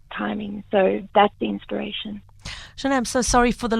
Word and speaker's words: Chané: So they can find all the songs available on Spotify, Apple Music as Chané with an accent on the E.